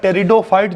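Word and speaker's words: Pteridophyte: भी कहते हैं बिटवीन पी तो साइलेंट होता है टेरिडोफाइट जो होते हैं और एंजियोस्पर्म्स होते हैं इनके बीच का शेत सेतु क्यों कहते हैं भाई?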